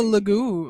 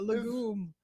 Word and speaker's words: legume: I was gonna say it's a lagoon. A legume. Is that how you say it? Yeah, it's legume.